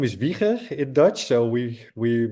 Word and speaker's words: Wieger: Uh my name is Viker in Dutch.